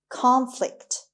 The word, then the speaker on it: conflict: number 10 is conflict conflict conflict the stress is on the first syllable it means direct opposition